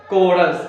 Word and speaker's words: chorus: ये word कोरस है, इसको चे की साउंड से नहीं पढ़ना, के की साउंड से पढ़ना है। ठीक है, CHORUS, कोरस, ये वर्ड कोरस है।